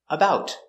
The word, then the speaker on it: about: tall about 6'3 pronunciation about we don't say about it's a stop t because the t is after a vowel about stop the air